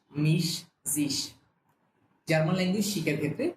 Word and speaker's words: mich: ওকে, তো হচ্ছে ইস, মিশ বলার সময় যাতে হচ্ছে আমার জিহ্বার অগ্রভাগ সামনের দিকে থাকে, ইস, মিশ।